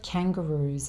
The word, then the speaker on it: kangaroo: This has three syllables. Kang, ga with the schwa sound, and roo. And the oo sound is the same oo in food. Oo. And the roo syllable is the stressed syllable. So this is the one that you say a little bit more loudly.